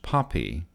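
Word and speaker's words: PAPI: along the flight path precision approach path indicator P a P I AP AP I pronounced poppy is another version of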